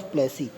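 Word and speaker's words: Plassey: Battle तो नाम पता है लड़ाई, और प्लास नाम था, इसलिए बैटल ऑफ प्लेसी। वैसे यहाँ पे ये बताया गया कि प्लेसी जो आप देखेंगे वो एंगिस प्रोनाउंसिएशन है, यानी कि पलासी पलासी पलासी बोला गया है।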